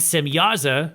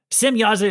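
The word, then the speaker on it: Semjaza: So, there's a J in there, but I believe the J is supposed to be pronounced like a Y, but um others might spell it more like Shemihaza or Simhaza. Simyaza is one of the watchers.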